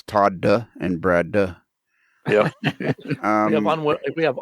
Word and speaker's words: Todd: The second D is silent.